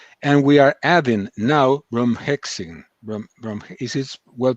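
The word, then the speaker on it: Bromhexine: For mild cases, we use ivermectin and aspirin, and we are adding now bromhexin. Is it well pronounced?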